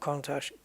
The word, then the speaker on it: Countach: Like mustache. That's what I said. Like mustache. Or yeah, Countach. Yeah, I don't really want to split the syllables up, but Kuhn and Tash.